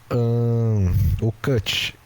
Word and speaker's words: Cwtch: Temos o Cut. A pronúncia é Cut, mas se escreve C...